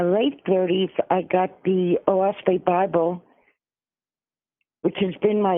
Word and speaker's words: Oahspe: In my late 30s, I got the OASPE Bible, which has been my inspiration all along. What Bible is that? What kind? OASPE. It's spelled OAHSPE, and it's a new Bible.